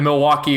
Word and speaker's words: Milwaukee: And he gives like a background to like the name Milwaukee. Because I think Wayne goes like, "So, come to Milwaukee often?" And he goes, "Actually, it's pronounced Milwaukee."